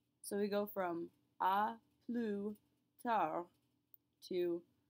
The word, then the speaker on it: à plus tard: Our other version of see you later is à plus tard. À plus tard. Note that we pronounce neither the S nor the D.